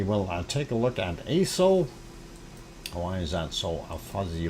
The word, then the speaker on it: Aso: And moving on, we will take a look at ASO.